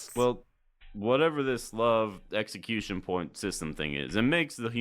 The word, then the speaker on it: LOVE: they can get their hands on increasing their level as they go. Um, actually it's not pronounced level, it's pronounced love.